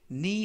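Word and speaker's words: knee: 더 니 조인트 이때 니 하면 무릎 이라는 명사가 되겠구요 앞에 있는 케이는 묵음 이라서 발음이 되지 않습니다 그래서 니 조인트 하면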